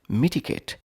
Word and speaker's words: mitigate: Mitigate. 3 syllables.